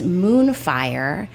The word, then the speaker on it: Moon Frye: It says moonfire. It's spelled though F Y R E.